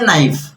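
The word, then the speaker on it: knife: हम लोग उसको बोलते हैं नाइफ बट के साइलेंट है।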